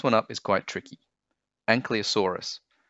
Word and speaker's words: Ankylosaurus: The next one up is quite tricky, Ankylosaurus. So five syllables, an-ky-lo-saur-us. Ankylosaurus, when you say it fast.